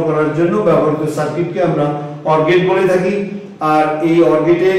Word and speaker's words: OR: হচ্ছে এক্স ই এ পলাবি পলা সি এটা অশুদ্ধ উচ্চারণ শুদ্ধ উচ্চারণ হবে এ অরবি অর সি এ অরবি অর সি